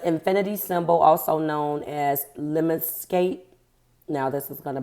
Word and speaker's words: lemniscate: The infinity symbol, also known as lemniscate. Now this is going to bother me. Leminscate. Lemniscate.